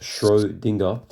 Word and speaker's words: Schrödinger: So Owen Schroinger pronounced Schrodinger was an Austrian Irish theoretical physicist.